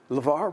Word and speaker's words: LeVar: Lavar Lavar shorten it Lavar rhymes with star how about that that's